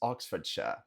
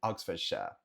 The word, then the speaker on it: Oxfordshire: Próximo, o condado onde fica Oxford, temos Oxfordshire. Oxfordshire, Oxfordshire, Oxfordshire. Ou, como disse anteriormente, Oxfordshire, Oxfordshire.